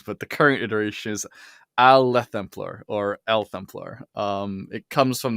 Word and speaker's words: Aelthemplaer: Well, there are variations of it because I changed it multiple times, but the current iteration is Aelthemplaer or Aelthemplaer.